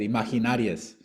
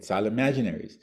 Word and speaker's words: Imaginaries: he said gastal okay he mispronounced the name of the album he said imaginarias right and it's get imaginaries and so we didn't